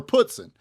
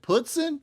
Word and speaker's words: poutine: If y'all are familiar with this dish, is it putzin or is it poutine? Up there they called it putzin, and I don't know. It's spelt poutine in my mind, but they said it was poutine. Anyways, we got the chicken, has gravy.